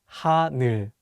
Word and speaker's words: 하늘: Let's use the word 하늘, meaning sky, as an example. Many people mispronounce the last syllable as 눌, so be careful. Let's say the word 하늘.